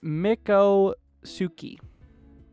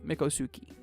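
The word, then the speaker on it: Miccosukee: you pronounce this area is it Mikko Suki it's like that's how you say mikosuki so that's an effect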